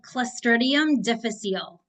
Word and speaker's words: Clostridium difficile: how to pronounce it how do you pronounce it it's called Clum defal okay and I'll take